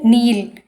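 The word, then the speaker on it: kneel: यस, इसी तरह से सेकंड वन देखिए नील, तो यहाँ पर के साइलेंट रहता है तो हम के को जो है सर्कल करेंगे।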